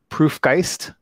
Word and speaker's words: Proof+Geist: is jeremy brown from proof geist right plus is silent in there i think um and